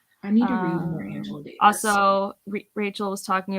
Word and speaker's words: Angela: No, it's what's funny with the word Angela, like technically there is a Spanish pronunciation, but like my family in Venezuela with other Angelas in Venezuela call them Angela. It's not Angela. So I think it's very regional when they choose to do the soft or hard G.